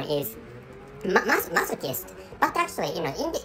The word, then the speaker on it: masochist: that that word in in English language the pronunciation is masochist but actually you know in in this country